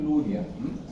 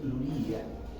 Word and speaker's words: Luria: Entonces Luria, en realidad, su apellido no es Luria, su apellido es Luria. Es un apellido ruso que no tiene letras en español para escribir Luria. ¿Ya? Se escribe así como Luria. ¿Ya? ¿Ok? Entonces, así como que dice, digamos, occidentalizado, se dice Luria.